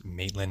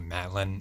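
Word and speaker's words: Maitland: okay uh side note I pronounced maitlin wrong it's maitlin not Matlin I don't know where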